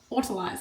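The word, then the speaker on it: autolyse: Autolyze, that's how you pronounce it.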